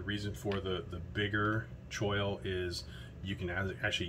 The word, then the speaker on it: choil: gonna call it um i think i call it uh coil a lot but it's i think technically choke choil um i'm not a